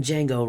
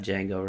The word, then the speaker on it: Django: y'all know enough about Django Reinhardt go look him up legendary legendary Django Reinhardt spelled Django spelled like like the like the Django from Django Unchained the D is silent DJ a-n-g-o Reinhardt um